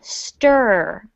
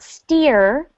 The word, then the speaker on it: stir: everyone repeat after me this is one of those times when that tricky letter i in english is making sort of an er er sound stir it's not it's not steer it's i know it feels it feels strange doesn't it to make that sound stir star that's something